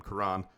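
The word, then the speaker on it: Kiran: regardless of position and Kieran amaji I it's it's Karan actually I've been saying it wrong the whole time kurran amaji is to me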